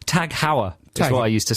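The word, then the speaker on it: TAG Heuer: what about you i i used to pronounce it like the taj mahal taj hey no tag hauer that's what i used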